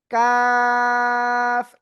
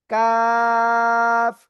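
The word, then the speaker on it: كاف: এই যে অক্ষরটা চার আলিফট নিয়ে অক্ষরটা উচ্চারণ করতে হবে। কাফ এইযে জিব্বার গোড়া গোড়া থেকে একটু আগে বাড়াবো। বাড়িয়ে আমরা চার আলিফটা নিয়ে অক্ষরটা উচ্চারণ করব। কাফ সবাই একসাথে জোরে জোরে পড়েন।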